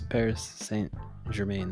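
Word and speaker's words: Paris Saint-Germain: thought it had like a like a different pronunciation it's Paris St Germain that's it I thought it was like par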